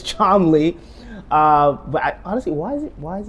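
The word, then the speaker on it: Cholmondeley: the Martian of chaly yes chomley I know it's spelled Chelli Deli but it's charmly uh but honestly why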